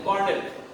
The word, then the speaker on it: colonel: Then colonel. This is not colonel. Colonel. Another peculiar spelling, colonel, but the pronunciation is colonel.